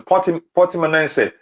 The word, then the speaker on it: Portimonense: Oh yeah, that sounds like the correct pronunciation. Portimonense.